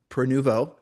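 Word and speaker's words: Prenuvo: scans, and we use a company called, uh, Peruvo.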